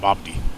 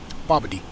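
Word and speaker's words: BOBBD: about 115 miles to babadi i call it bob d it's pronounced b-o-b-b-d bobody so uh once we get to about yeah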